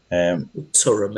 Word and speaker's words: Thuram: Turum, if we're pronouncing it like Durham.